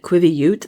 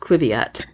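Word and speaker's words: qiviut: I found out we've always been pronouncing it Quiviute, the musk ox fiber, but it's actually pronounced Quiviute.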